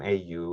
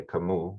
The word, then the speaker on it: Kamau: It's like Maui. A lot of people have mispronounced it over the years. They skip the A and they say Camus, which is, I think, a philosopher, but that's not my name.